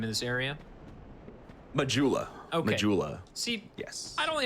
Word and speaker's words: Majula: sweat how do you how how do you pronounce the name of this area majula jula see yes i've only ever i've only